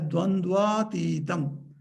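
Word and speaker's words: द्वन्द्वातीतं: Together you pronounce as Dvandva Titam.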